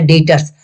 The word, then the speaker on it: debtors: देखिए यहाँ पे लिखा हुआ है DEBTORS, लेकिन इसको पढ़ना है डेटर्स, बी को साइलेंट कर देना है।